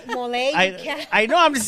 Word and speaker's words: Molle: Not ole. No, it's MOLLE. Mole.